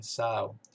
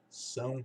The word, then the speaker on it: São: Como é que eles falam esse São? Fala Sal. Não sei se você já viu em algum filme, algum repórter ou alguém falando inglês fluente, algum nativo falando inglês com microfone, aí de repente diz, não, não, não sei o que, São Paulo, Sal, né? Nunca fala São.